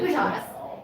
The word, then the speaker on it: Utas: Oh, that's pronounced Utas? I think I've been calling him Utis for. It's Utas, and Hold on.